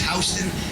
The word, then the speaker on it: Houston: a sign, add, subtract, or simply count above Hston Street, you'll never get lost. And please remember, in New York, it's Hston, Texas, the same word is pronounced Houston.